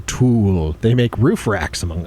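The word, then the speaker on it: Thule: what you did there that to is pronounced tul they make roof racks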